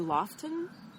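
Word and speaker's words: Loaghtan: It's called Manx, and I don't know how to pronounce this. Look, probably Loughton. It's Loughtan, and it's a beautiful kind of caramel colored brown.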